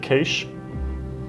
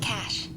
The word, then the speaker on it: cache: Um, that's capture the cache, the cich, you know, it's been now how many years put it in print, printed it, second edition of the book.